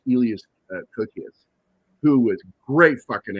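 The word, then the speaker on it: Elias Koteas: Also, you had it's either Elias or Elias because he is Greek, so I think it's pronounced Elias Kokias, who was a great fucking actor, man.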